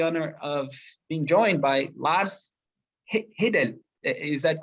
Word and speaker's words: Lars Hedal: This is the Scandinavian version, and today I have the honor of being joined by Lars Hedal.